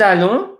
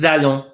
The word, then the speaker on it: allons: Nous allons, nous allons, nous allons, nous allons. We go or we are going. Okay, I'll remind you, ONs are pronounced on.